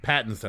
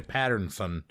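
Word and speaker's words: Pattinson: pick, High Life, Robert, how do you say his last name? Robert Patson. Patson. I always say Patternson.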